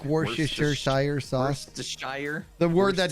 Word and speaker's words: Worcestershire: Somebody says it's pronounced wash your sister sauce.